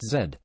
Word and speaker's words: Z: of this mid to late 90s glut was said pronounced Zed this game has one pace breakneck it was